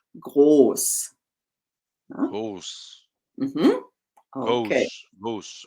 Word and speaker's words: groß: So it's not gross, it is groß.